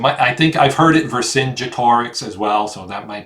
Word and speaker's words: Vercingetorix: You've got, I'm assuming this is Caesar, and that's Vercingetorix right there.